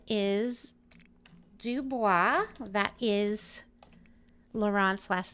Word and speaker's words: Dubois: So the last name is Dubois.